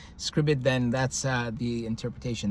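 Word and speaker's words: Scribd: If you read it online on scribbid s c r i bd that's what I pronounce it scribbid.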